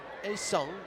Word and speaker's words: 혜성: A Seong is how you pronounce that.